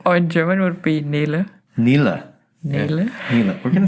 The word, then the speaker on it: Nele: Or in German would be Nele.